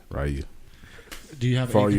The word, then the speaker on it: Ryu: Oh yeah, I'll definitely do that, and I'll bring my Ryu Amiibo along with me because that's how you pronounce his name. Ryu.